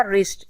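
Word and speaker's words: wrist: नहीं किया जा रहा रिस्ट इसमें भी डब्लू को प्रोनाउंस नहीं कर रहे कॉम इसमें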